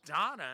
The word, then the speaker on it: Dana: Oh, she call she says her name's Donna instead of Dana.